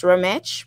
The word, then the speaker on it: Remesh: So it would be pronounced Remesh, but it's spelled RMT.